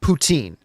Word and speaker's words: poutine: the president of Russia Putin is the President of Russia it is not the delicious although extremely unhealthy uh Canadian delicacy uh poutine and but listen it's whatever it's french fries covered with cheese and gravy who cares if Ryan goling wants to call it Putin if that's how he